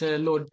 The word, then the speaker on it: Lod: In Arabic, we should pronounce it. Yeah, Lid. I think in Hebrew it's Lod.